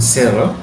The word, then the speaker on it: Searle: John Searle, atau tulisannya Searle ya, tapi bacanya John Searle, lahir tanggal 31 Juli 1932 di Denver, Colorado, Amerika Serikat.